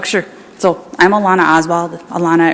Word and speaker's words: Alana: Alana, it rhymes with iguana. People call me Alana all the time, but it's Alana.